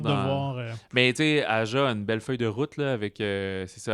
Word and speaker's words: Aja: On dit-tu Aja? Je sais, les J qui sont prononcés comme des H en espagnol.